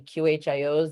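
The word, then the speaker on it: QHIO: one of our qios I pronounce it qio so that there is a differentiation between the tea Qin because people do get easily confused and they are different uh we are standing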